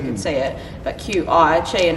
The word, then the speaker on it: Qi: there so you can see it but Qi Chi and it's like something's don't even know how to pronounce her they get like well mr.